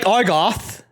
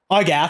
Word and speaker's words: Argath: So you're starting to see why I don't like Argoth. Argath, how you pronounce his name.